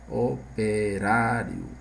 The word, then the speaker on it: operário: em hiato vamos ver Operário então Aqui nós temos o acento aqui na penúltima sílaba se é na penúltima é paroxítona e aí recebe o